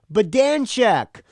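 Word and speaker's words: Badanjek: track by track the drummer's last name is pronounced badan check many folks like you are mispronounced have mispronounced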